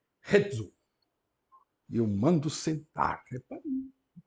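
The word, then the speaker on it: ἕζω: E o verbo tem o acento na primeira sílaba. Rezo.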